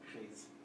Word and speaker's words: prise: And when we add an E to a word that ends with a silent S, the S wakes up. And so this sounds like pris, this one sounds like prise.